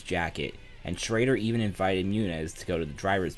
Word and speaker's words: Muniz: Frankie was given an M&M's jacket, and Schrader even invited Muniz to go to the driver's meeting with him.